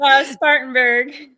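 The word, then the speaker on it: Spartanburg: Becky, where I I didn't want to butcher the cities the city's name of where you're at. Spartanberg.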